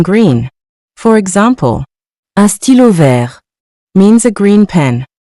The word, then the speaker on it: vert: The next color is vert, meaning green. For example, un stylo vert means a green pen. Notice that the T is silent, so we pronounce it vert.